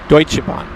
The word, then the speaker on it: Deutsche Bahn: Deutsche Bahn.